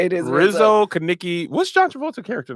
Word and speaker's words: Rizzo: names i actually don't even know joshua it's lizzo i mean rizzo i keep saying it wrong okay rizzo oh